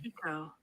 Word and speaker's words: Pico: Think Pico de Gallo.